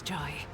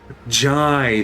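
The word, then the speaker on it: Jae: as undignified as yours, Joy. Jai, that's how you pronounce it.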